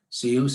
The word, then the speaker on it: CIOOS: CIOOS, as we chose to pronounce it to rhyme with the rest of the world.